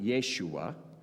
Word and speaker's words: Yeshua: in the promised land now Joshua in Hebrew we would pronounce it Yeshua and we're going to